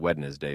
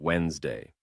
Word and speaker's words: Wednesday: Three, Wednesday, not wed day, but Wednesday.